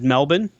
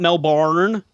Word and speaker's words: Melbourne: It's Melbourne. Here, listen closely. Melbourne, not Melbourne. There's no barn in it. There's no barn. It's Melbourne. It's Mel's Buns. Melbourne.